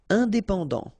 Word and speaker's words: indépendant: Indépendant, final T not pronounced.